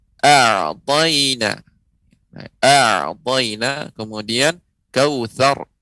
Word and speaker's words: كوثر: A'tayna kemudian kautsar, ra yang disukunkan, waqaf sebelumnya berharokat fathah, maka ra dibaca tebal. Kautsar bukan kausar ya.